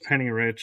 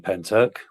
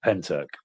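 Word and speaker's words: Pentyrch: I'm thinking that's pronounced Penny Rich.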